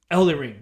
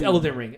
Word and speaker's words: Elden Ring: it I believe it I thought it was Elden ring Elder ring yeah I'm sorry Elder ring Elder ring I'm sorry did I say it wrong I'm sorry scoss is uh it's a good another okay it's elant ring I'm sorry I'm not